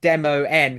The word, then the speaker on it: Demo_N: And I was like, well, the the word it's meant to be a word play of demon and video game demo.